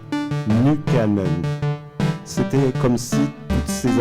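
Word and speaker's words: Nykänen: l'époque et pour longtemps je le prononçit le lisait à la française nickenon bien des années plus tard j'ai été à la fois surpris et décontenancé en apprenant le finois de découvrir sa véritable prononciation nukanen c'était comme si toutes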